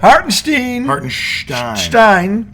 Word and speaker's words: Hartenstein: Hartenstein, okay, sat the entire fourth quarter and they out-rebounded them.